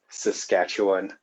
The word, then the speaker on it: Saskatchewan: I've heard that name butchered quite a few times, so it's pronounced Saskatchewan.